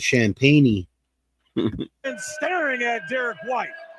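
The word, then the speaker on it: Champagnie: And I thought his name was Champagne. It's Champagne. And staring at Derek White. Got it and the foul. Got him. I mean, unless he pronounced I it can wrong. fly. But it's spelled like champagne.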